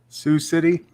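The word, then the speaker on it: Sioux City: Iowa yes how do you how do you pronounce it sux Sous City Sous City Iowa but she's also a giant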